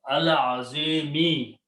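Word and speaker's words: العظيم: So this will become al azimi. Then you read together Rabbul Arshil Azimi. And when you stop because of the ayat, you don't pronounce this kasra. Al Azim, Rabbul Arshil Azim.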